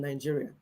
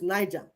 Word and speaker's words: Niger: because this one is Niger, and they have Niger Republic. The same spelling, no? One, he pronounced it in English. One, he pronounced it in French.